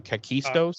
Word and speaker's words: Kakistos: say the real hit the thing's actual name kakistos kakistos oh yeah um Buffy says to the